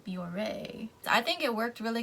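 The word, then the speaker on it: Bioré: however you pronounce biore bjor i don't need bjor no it has the thing over the e so biore i think it worked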